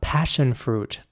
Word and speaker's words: passion fruit: Here, it is very important to pronounce the double S like a sh sound. So not s, but sh. Passion. Not passion or passion or something, but passion. Passion fruit.